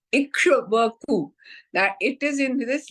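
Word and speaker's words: Ikshvaku: given by Manu was ishaku ikaku it's very difficult to pronounce but it is ikaku that it is in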